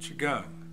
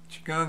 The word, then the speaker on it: Qigong: what Chang just what is that Chang is an ancient Chinese fitness and health lifestyle